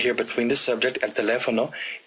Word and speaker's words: teléfono: Cuatro sílabas. Y la segunda sílaba, le, tiene la énfasis. So it's teléfono. A lot of people want to emphasize this third syllable, fo. But no, it's not there. It's teléfono.